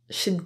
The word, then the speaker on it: should: you'll hear should get should get I should get going and the L in should is silent I should get going